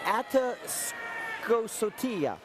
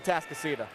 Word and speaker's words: Atascocita: Atascocita. It's a Atascocita.